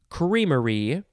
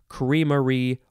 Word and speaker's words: creamery: shush next word is creamery so you can say it with two syllables or three syllables creamery or creamery i prefer the the three syllable version creamery noun from 1872 an